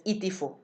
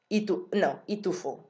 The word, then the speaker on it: itufu: Itifu is to take off like clothes. Itufu is to throw away something. um you hear like the strong syllable in the middle, itufu, itufu, and that's how the words work.